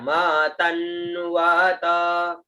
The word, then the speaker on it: मतन्वत: फिर म त आधा न व और त, ठीक है, म तन्वत, म तन्वत, त के साथ में आधा न जुड़ जाएगा, ठीक है। उच्चारण हुआ मतन वत, मतन वत।